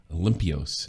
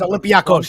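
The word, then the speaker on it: Olympiacos: Olympios. How do you say that? It's a Greek team, I imagine? That's Olympiakos.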